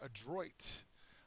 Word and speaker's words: adroit: our first word is adroit uh adroit is an adjective it has the second syllable accented it means skillful or